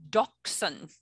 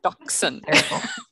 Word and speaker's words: dachshund: And yes, you pronounce it dachshund. Dachshund. Yes, because when I was researching the breed, I got dachshund for dummies. And that was the first lesson, how to pronounce it. So it's dachshund.